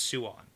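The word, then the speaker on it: Siuan: on yeah well it's it's swan it's suwon but i say it fast so it's swan you're confusing me with your pronunciation you can say swan yeah that's what i do say yeah but if you slow it down it's sue on s-i-u is sue swan swan okay moving on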